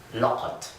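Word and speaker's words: لقد: the whole thing looks like this, and it's pronounced لَقَد.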